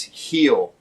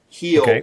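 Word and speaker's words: Gil: for me it's Luis heel heel like the back of your foot heel yeah it's spelled g i l but this kid came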